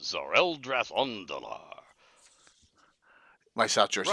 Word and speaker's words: Tzereldratondlar: I'm gonna spell this, okay? Yes. Tzereldratondlar, and it's pronounced Zoreldrath Ondalar.